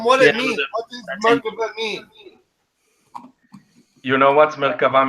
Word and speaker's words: Merkava: It's Merkava. Merkava. Merkava. Yeah. Tell them what it means. What does Merkava mean?